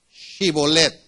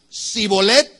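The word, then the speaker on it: shibboleth: La prueba consistía en pronunciar correctamente una palabra, shibolet, así como shalom, shibolet. ¿Cómo es? Shibolet, que significa arroyo que fluye. Si ellos, los de Efraín, decían Sibolet, sin la H intermedia, ellos podían decir, no,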